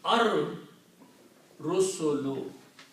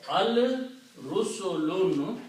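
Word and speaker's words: الرسل: And when you pronounce this thing, Ra is a Shamsi letter, so it will kill the sound of Lam. And the Ra will be pronounced twice. So it will become Ar Rusulu, the messengers.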